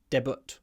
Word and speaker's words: debut: kind of different to how we say it. Debut, not debut. Debut. It comes from French. I mean, that's why the Russian word also comes from French. And we get these cognates.